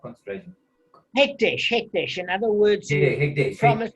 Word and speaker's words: hekdesh: So what happens with what pronounce the name concentration, not concentration? Hekdesh.